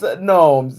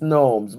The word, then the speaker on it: gnomes: Amanda said the G is silent. Yes, I realize you're saying it correctly without the G. American English is all kinds of silent letters. I don't know why. Good gnomes. It's gnomes.